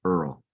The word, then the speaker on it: Earl: But that's the origin is from this very silly fat cat that we had named Earl. Spelled like squirrel, but without SQ.